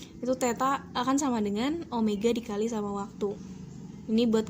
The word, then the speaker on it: omega: kita misalnya pakai comega jadi w ini dibacanya omega itu akan setara sama